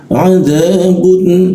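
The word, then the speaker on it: عذاب: Walahum adabun, lalu adabun. Nah, untuk ini huruf bunnya, bun jangan didengungkan, karena huruf a ini itu tidak berdengung.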